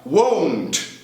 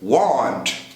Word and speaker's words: won't: Essa sim, dá muito problema de pronúncia. Won't. Won't. Que muita gente confunde com o verbo para querer. Want.